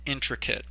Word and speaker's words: intricate: next word here is intricate and we'll notice with this pronunciation is that even though it ends in at it's not pronounced eight and that nor and